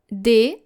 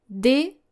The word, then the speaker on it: dehors: writing as well, but you are very tempted to pronounce the H in this word, especially native English speakers. And this is how we spell this word. D-E-H-O-R-S. Encore une fois. D-E-H-O-R-S.